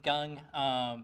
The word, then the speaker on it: Gung: Hi, my name is Gung. It's pronounced like gung ho.